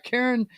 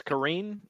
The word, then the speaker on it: Karine: out press secretary uh Karen uh Jean-Pierre is that how you pronounce her name I think it's Karine Karine Jean-Pierre okay she is from